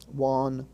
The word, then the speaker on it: wonton: But note that wonton, the Chinese soup, is pronounced with its regular short O, wonton.